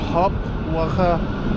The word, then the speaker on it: Hauptwache: হপ ওয়াখা যদিও বানানটা একটু অন্যরকম, HAUPTWACHE, বাট এটা উচ্চারণ হয় হপ ওয়াখা।